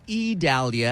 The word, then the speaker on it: Idalia: We'll continue to bring you the latest information with regards to Tropical Storm Idalia, or Idalia, as we're told it is pronounced, even though it starts with an I.